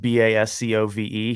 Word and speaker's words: Bascove: That dude's name is Baskove. I don't know how to pronounce it. It's just Bascove.